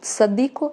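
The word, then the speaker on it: צדיק: Sua pronúncia lembra o Z da palavra pizza. Essa letra ela pode ser pronunciada como tzadik ou somente tzad, tá? Sem o K no final, e as duas maneiras estão corretas.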